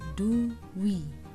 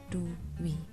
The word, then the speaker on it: dwi: Kemudian selanjutnya untuk kata dwi. Nah, ini pun sama, bukan da dimatikan kemudian wa diberi ulan i. Nah, ini salah. Yang benar dibacanya adalah duwi. Jadi da diberi bitan u dan wa diberi ulan i, jadinya duwi.